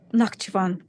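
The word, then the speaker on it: Nakhchivan: Is it Nachivan? Nakavan. How do you pronounce that? Nakavan. Correct. Yes.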